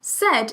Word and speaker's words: said: Said, if you sounded it out using phonics, would be s, a, I, d, said, which obviously that's not how you pronounce said.